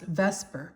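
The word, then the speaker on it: VSEPR: electron pair you have electron pair and repulsion often pronounced Vesper but it's v s e p and so it says let's describe this so um vasper uh it predicts the shape Vesper is the shape predict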